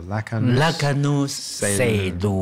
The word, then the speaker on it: Raknus Selu: Like a Shaolu in Chinese. So Selu. Right. Right. So you have to say it slowly. And in fact, as you walk the trail slowly, you say the trail slowly, syllable by syllable.